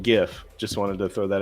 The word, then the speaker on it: GIF: of people by saying GIF. Just wanted to throw that out there. Well, I don't care. It's not. If it was GIF, it'd be spelled with a J.